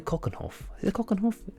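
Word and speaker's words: Keukenhof: long walk if you've been to cockenhoff that's the right way to pronounce it to the two lip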